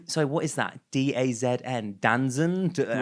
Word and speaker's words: DAZN: is the sports streaming company, or it's pronounced DAZN, but most people think it's called like Danzon.